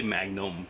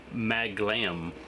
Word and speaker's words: Maglam Lord: I keep wanting to say Magnum, but no, it's Maglam Lords.